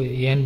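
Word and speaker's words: yen: ये 500 का है, करेंसी को येन बोलते हैं, अब हिंदी लोग प्रोनाउंसिएशन में युआन कह देते हैं।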